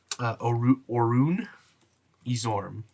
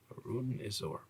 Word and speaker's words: Orun Izorm: Orun Izorm. Orun Izorm. It's spelled with an I.